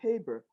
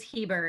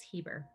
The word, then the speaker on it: Hieber: It is Heber. It's that with German names you pronounce the second vowel, so it's Heber. People say I just tell people to think of Justin Bieber, but hopefully I'm less annoying.